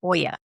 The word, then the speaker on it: olla: very water wise, and that is creating an Oya. And that's spelled Olla.